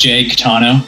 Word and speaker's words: Caetano: name no it's not it's just Jake tano okay it was the